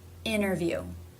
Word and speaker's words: interview: This would be when the T begins an unstressed syllable and the syllable before ended with an N. I have noticed this. For example, interview. Interview. There's no stop, there's no T, there's no D.